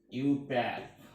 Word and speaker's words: IUPAC: pure and applied and this idea C is pronounced as you pair now this white is ecosystem of nominator four